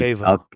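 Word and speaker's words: Alqueva: of these, like especially around how do you pronounce the lake again? Because it's such a funny word. Alcava, Alcava.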